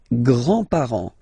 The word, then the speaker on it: grands-parents: Les grands-parents. Les grands-parents. Remember, you don't pronounce this final S here.